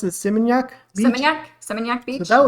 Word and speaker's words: Seminyak: And we went to how do you pronounce it? Seminyak Beach.